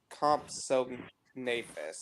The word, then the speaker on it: Compsognathus: question compsognathus or compus I've always heard it pronounce comp so nus okay cuz I know